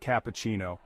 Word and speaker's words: cappuccino: with me latte next cappuccino the stress is on the second part cappuccino say it with